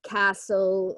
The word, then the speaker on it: castle: Also, yeah, things like the castle and listen, that missing T can often be a problem.